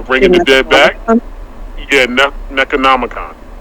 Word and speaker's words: Necronomicon: So the Necronomus, am I saying it right? The Book of the Dead, or Bringing the Dead Back? Yeah, Necronomicon.